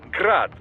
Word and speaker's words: Grad: But most in the business pronounce it as Grad, Russian style.